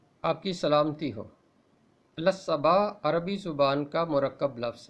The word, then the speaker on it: الصباح: بہت سویرے، تڑکے ہی۔ اس کا درست تلفظ ہے الصبا، بالکل اسی طرح اعلان